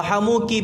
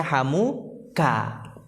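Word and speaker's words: حَمُوكِ: Karena kalau hamuki tidak ada harokatnya, itu bisa jadi orang bacanya hamuka. Oke, paham? Karena kalau pakai kaf nggak ada harokatnya, bisa jadi orangnya bacanya hamuka. Dan itu keliru.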